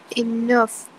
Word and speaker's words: enough: Okay, but the ending sound is a F sound at the end, so? Enough.